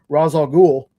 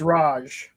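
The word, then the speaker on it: Ra's al Ghul: say it wrong, but this is how I say it. Razal Ghoul. That is right. What? Everybody says it's Raj. Raj. There's no J in there.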